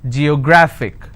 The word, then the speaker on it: geographic: syllables do i have g yo grah fick and the rule says if i have a word ending with ic i need to stress on the second last syllable so i'll pronounce this as geographic if i have another